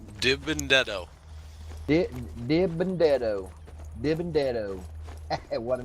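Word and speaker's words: DiBenedetto: Matt Benedetto? Or how do you say that? Dibendetto.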